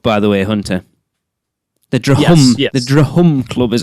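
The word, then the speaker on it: Drhum: Drum Club, by the way, Hunter. The Drahum. Yes. The Drahum Club is how it's spelled.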